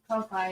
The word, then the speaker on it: Ko-fi: We do have a Ko-Fi account. Ko-Fi, yeah.